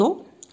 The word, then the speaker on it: os: هنا ما نطقوش هاد الاس هادي les os.